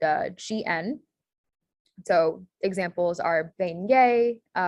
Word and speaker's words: beignet: So examples are beignet, which again is ET as the A sound, and then rognon, which has that GN and Y sound, nia sound.